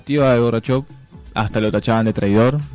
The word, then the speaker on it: Gorbachev: Así que Se podría decir que Gorbachev se pronuncia así, ¿no? Gorbachev, Se podría decir que gracias a las reformas que hizo, ¿no?